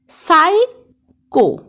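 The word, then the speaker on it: psycho: Example দেখো সাইকো, সাইকি, সোরা ইত্যাদি। ইংরাজি শব্দের শেষে টিসিএইচ থাকলে এর উচ্চারণ চয়ের মতো হয়।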